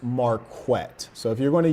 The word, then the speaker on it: Marquett: And lastly, my name is pronounced Marquette.